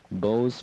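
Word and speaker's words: Beau's: One of the finest restaurants in the Bronx, 2915 Westchester Avenue, Bo's Restaurant, B-E-A-U-S is how it's spelled.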